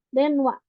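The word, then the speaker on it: 電話: Terus wa ya, ada cara baca wa. Untuk contoh kosakatanya, tadi ya hanasu udah itu berbicara, hanasi itu cerita, denwa telepon ya denwa.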